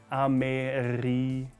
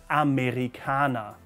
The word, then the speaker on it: Amerikaner: There's the R again, I know. Amerikaner. Amerikaner.